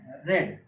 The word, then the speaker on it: read: A book is, इसका third form रेड. इसको हम थर्ड फॉर्म में रेड पढ़ते हैं. फर्स्ट फॉर्म में रीड पढ़ेंगे, सेकेंड फॉर्म में भी रीड पढ़ेंगे, लेकिन थर्ड फॉर्म में इसको हम रेड पढ़ेंगे. स्पेलिंग वही होगी.